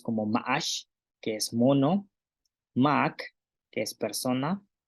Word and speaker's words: máak: es un ejemplo con Mac, persona. Entonces, este tiene un tono alto y significa persona. Y la pronunciación es Mac, persona.